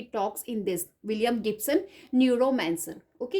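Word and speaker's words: Neuromancer: इसमें हमारे पास नंबर 15 है न्यूरोमैंसर, राइट? ये आपका 1984 में पब्लिश हो रहा है। न्यूरोमैंसर बोल सकते हो आप इसको, न्यू रोमांसर भी बोल सकते हो, right? So this is the pronunciation new रोमांसर।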